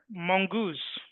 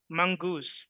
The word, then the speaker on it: mongoose: The word mongoose was pronounced incorrectly. It should be ideally mongoose. Just like the word pronunciation itself is not pronunciation, it is pronunciation. Similarly, mongoose.